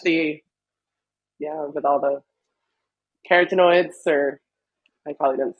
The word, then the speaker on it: carotenoid: the yeah with all the carotenoids or I probably didn't say that right. Carotenoids, it's good. There. It's good. Oh, wait, Yeah. say that again. It's Carotenoid. almost like saying carrots, carotenoids.